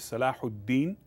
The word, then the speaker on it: Salahuddin: His European called him Saladin, but his real Arabic name is Salahuddin Ayyubi. Ayyubi, that was his family, and so his real name was Salahuddin. So European could not pronounce Salahuddin, they would say Saladin.